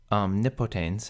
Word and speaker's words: Omnipotens: Omnipotens has the accent on the antepenult because the penult here is short.